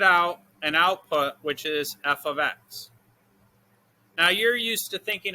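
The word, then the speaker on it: f(x): of mean the same thing okay this is pronounced f of x so we're going to do a question where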